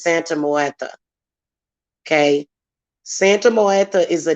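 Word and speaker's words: Santa Muerte: and he brings up santa moyeta a santa moyeta it's actually the way i pronounce it is santa moeta okay santa martha is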